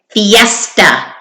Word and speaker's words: fiesta: This is a hard word because the I says E. E-est. And then the schwa A. Fiesta.